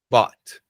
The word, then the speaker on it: bought: essa aqui de novo cuidado não é o não é bot que nem o que a gente fala de robô né só para no t ali ó bot fala bot